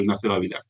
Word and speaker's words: Ignacio Gavilán: Cuando lo escribo pongo santo lo amarillo, Ignacio Gavilán, y cuando lo pronuncio no digo ni la G ni la R, digo Ignacio Gavilán, ¿vale?